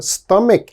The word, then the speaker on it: stomach: my students often mispronounce same problem there's a ch so they say stomach oh please don't say stomach never say that it is always stomach stomach strong k sound here stomach all right and